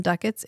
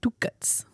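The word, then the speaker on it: ducats: for everything with duckets everyone calls them duckets except Londo who calls them Duets well yeah he's saying it correctly I I just love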